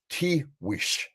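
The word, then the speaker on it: Tiguex: I may not say this word correctly, the Taiguex War. Yeah, it's really hard to. I've tried to pronounce it for years, but it's still tricky. It's Tiwish.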